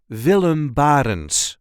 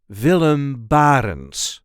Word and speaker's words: Willem Barentsz: the way we say villum Barn villum bar there is a light emphasis on the first syllable of his last name villum Barn vum bar villum bar